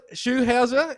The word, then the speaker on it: Schulhauser: show and today's guest is shoe Howser is that he'll pronounce your last name yes I've got it